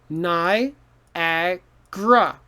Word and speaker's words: Niagara: it easier to say niagara falls is hard because niagara has too many sounds so what we do we simplify it ni agra so nai a gra so this g a r a over here turns into g r a niagara becomes niagara because it's easier to say you see niagara but